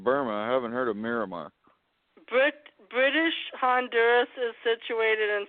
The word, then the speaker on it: Myanmar: Miramar or Myanmar? Miramar is how they pronounce it. There is an N in it, though.